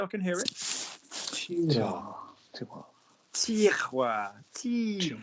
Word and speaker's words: tiroir: So say, give me the T. Send it forward. T. That's it. Now give me the roi. Send it forward. Wa. That's it. That's it. So now don't whisper. Say tiroir, drawer, tiroir. Tiwa. That's it. In one slide, not two separate sounds.